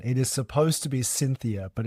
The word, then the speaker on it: Syntheia: It is supposed to be Syntheia, but it's spelled Syntheia because it's a portmanteau of two Latin words, synth, together, theia, knowledge, but pronounced Syntheia.